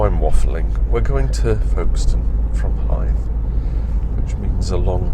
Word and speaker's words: Folkestone: Just kind of, don't pronounce it stone. She said, well, you call it Maidstone. And I had no answer to that argument. It was kind of valid. However, you just call it Folkestone, don't you?